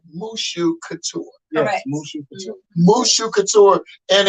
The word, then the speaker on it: Mushou Couture: Okay, and so let me pronounce this right. Mushou Couture. Yes, Mushou Couture.